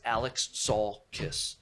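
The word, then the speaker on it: Alexakis: an interview always saying if you want to pronounce my name i've always liked the band kiss but my last name is alex saul kiss yeah arthur alex salkis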